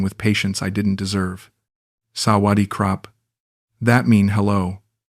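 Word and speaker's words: สวัสดีครับ: She taught me basic Thai phrases, correcting my pronunciation with patience I didn't deserve. "Sawadi krap."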